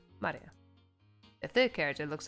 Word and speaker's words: Maria: Of course, that is pronounced Maria.